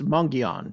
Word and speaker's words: Mogollon: n but everyone says mongan some people put a little n in there at the end of the first syllable some don't there's a